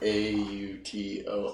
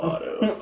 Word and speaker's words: Auto: But it's spelled as A-U-T-O, Otto. Auto. Like automatic. Yeah, like automatic, but it's Otto.